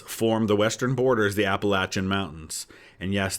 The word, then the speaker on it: Appalachian: the Western borders the Appalachian Mountains and yes that is how it's pronounced by people who actually live in what we call Appalachia um many people say appellation Appalachian mountains are the